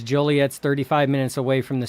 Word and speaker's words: Joliet: Joliet, not Juliet.